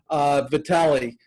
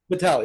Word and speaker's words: Vitale: And with that, I'm going to welcome my guest, Alex Vitale. Am I pronouncing your name correctly, Alex? Yeah, that's right. Vitale.